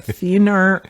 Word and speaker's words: thenar: So I look for atrophy of the thenar eminence.